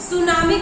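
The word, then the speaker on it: tsunami: वैसे सुनामी की spelling T से स्टार्ट होती है, टी सुनामी होता है लेकिन टी साइलेंट है, सुनामी पढ़ा जाता है, वैसे टी सुनामी लिखा जाता है।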